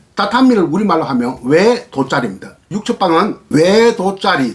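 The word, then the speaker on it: 畳: 정확한 발음은 다타미를 우리말로 하면 외도짜리입니다.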